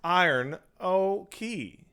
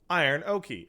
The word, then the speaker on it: Iranoki: My name is pronounced Iron Oki. Iron Oki.